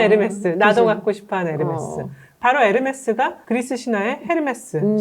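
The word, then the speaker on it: Hermès: 근데 그 에르메스를 우리가 에르메스라고 하는 것은 불어로는 네. H가 묵음이니까 에르메스라고 되고요.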